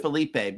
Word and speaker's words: Philip: It's pronounced Felipe because my my family hails from Canada, uh, Quebec.